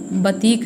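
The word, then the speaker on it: batik: और बाटिक मूलतः जावा एवं सुमात्रा की कला है, जिसका सही उच्चारण बतीक है, जिसका अर्थ है मोम से लिखना या चित्र बनाना।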